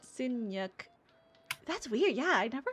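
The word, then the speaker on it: nhật: So yeah, the yeah, so it's spelled NHAT for birthday, Sinyuk. But like when you say it, it has a K sound instead of a T sound. Sinyuk.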